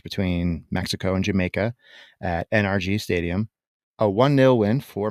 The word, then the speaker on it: NRG: the energy sector uh I've never heard anyone pronounce it energy I mean I say energy a lot but uh they don't refer to the stadium in which you are referencing as energy but rather they use the three letters very articulated NRG right but it's a